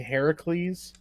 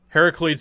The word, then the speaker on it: Heracles: kind of just like hercules but it's actually heracles heracles is the better way to pronouncing that actually it's the okay it's the